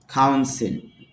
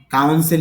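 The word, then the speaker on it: council: কাউন্সিল এই শব্দটা আমরা কাউন্সিল হিসেবে ব্যবহার করি। কিন্তু আইপিএতে দেখা যাচ্ছে কাউন্সল।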